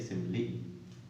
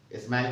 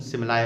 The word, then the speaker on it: simile: स्माइल नहीं है ये, कहीं इसे देख करके आप समझो ये स्माइल है, दैट इज मैं स्पेलिंग बोले दे रहा हूँ SIMILE सिमिली। कहीं की इसका प्रोनाउंसिएशन सिमलाय होता है, लेकिन हम यहाँ फिलहाल अपनी तरह से लेते हैं, इसको सिमिली के रूप में लेते हैं।